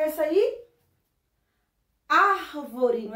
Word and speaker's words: árvore: Qual é a sílaba mais forte? Ar, não é isso? Então, ó, a sílaba tônica da palavra árvore é ar.